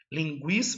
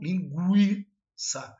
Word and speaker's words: linguiça: Linguiça, o G tem som de GU. Linguiça.